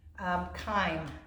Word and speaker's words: chyme: Chyme, that's another thing that gets released in here, and that's actually because of the liver. C-H-Y-M-E, chyme, it's pronounced like a K.